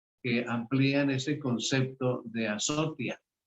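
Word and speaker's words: ἀσωτία: pantalla como se escribe en griego y se pronuncia azotia.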